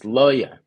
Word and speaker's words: Luhya: It's Loya.